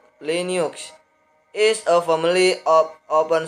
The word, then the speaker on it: Linux: Linux, pronounced Linux, is a family of open source operating systems, which means they can be modified and distributed by anyone around the world.